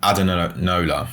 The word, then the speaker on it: Adenola: So I'm going to show you a store called Adenola. That's how you pronounce it.